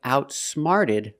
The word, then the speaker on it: outsmarted: The boy outsmarted the robbers. Outsmart in the past. Outsmarted. The t changes to a fast d sound.